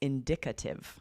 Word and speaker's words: indicative: ive and then it's indicative. Yes, the stress goes on the D, right? The D sound.